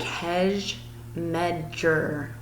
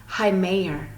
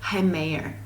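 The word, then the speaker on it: Hej med dig: And to say hello, if you look really carefully right here, it looks like hedge medger or hedge medger, but you actually pronounce it Heimayer.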